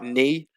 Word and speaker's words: knee: common in english and we can uh see a silent k in words like knee and no so in the pronunciation there's no recognition of the k sound it exists in the